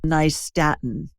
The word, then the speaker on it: nystatin: And then lastly, get a hold of some nystatin. And it's spelled Nystatin, nystatin. Think of New York and Staten Island. That's how it's an easy way to remember it.